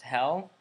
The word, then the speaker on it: Hel: They're pronounced Hell, H-E-L, and I discovered the